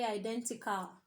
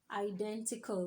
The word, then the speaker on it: identical: we should say hassle we shouldn't say identica we should say what identical we shouldn't say locale